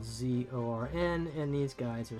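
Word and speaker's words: Xorn: be said about that this is a Zorn that I am painting a Elemental Earth creature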